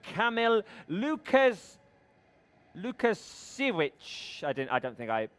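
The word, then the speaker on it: Łukasiewicz: Did I say it right? Thank you. Lukasiewicz. Thank you, Camille.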